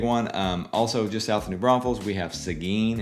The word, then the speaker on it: New Braunfels: For example, it's New Braunfels. It's not New Braunfels. There's no extra S in there.